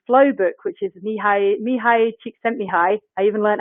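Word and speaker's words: Csikszentmihalyi: Well, as many of you know, I'm a scientist, so I've actually um read the flow book, which is Mihi, Mihi Chik sent Mihi.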